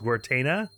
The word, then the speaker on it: Guertena: And, otherwise, notes-wise, the wonderful Matthew the 13th Bard in the comments has kindly informed me it's pronounced Guertena, I think.